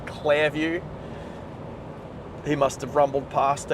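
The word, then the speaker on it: Clairview: Clear View or CL Clare View. Say it properly. Claire View.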